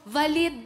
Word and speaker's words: Valid: Nagulat ako, valid ba talaga o mali yung pagka-pronounce ko nung last name mo? Valid po, as in, valid ID.